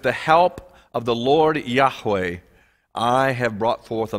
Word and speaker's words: Yahweh: the name of god most bible scholars would agree that the expected pronunciation is the one i've just used yahweh the reason for this